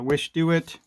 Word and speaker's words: Wishdoit: uh this is uh wish do it this is how you pronounce it and communicating with these